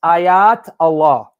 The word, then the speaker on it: ayatollah: about the ayatollah khomeini the way you're pronouncing english because you know we english people we butcher every language it's ayat allah meaning sign miracle of